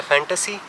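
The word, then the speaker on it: Fanta: तो इमेजिनेशन का German word है फैंटेसी, और इसी से उनके एक एम्प्लॉय का आइडिया है कि फैंटेसी से फैंटा। तो एक्चुअली जर्मन प्रोनाउंसिएशन फैंटा की है फांटा, और हम इसी जैसे फैंटा बोलते हैं।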